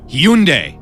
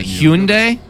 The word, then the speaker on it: Hyundai: brand he you neg Hyundai god you're wrong again from maryland's it's not hewn day its Hyundai it's a brand